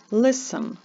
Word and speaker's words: listen: літера C не вимовляється Listen Listen літера T не вимовляється a scientist is listening